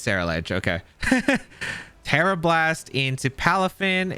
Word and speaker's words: Ceruledge: into the pelipper goodbye come on go uh Sarah luge don't let me down now or Sarah ledge I don't I don't know how to pronounce this thing okay halafin oh it's Sarah ledge okay Terra Blast into palafin and we go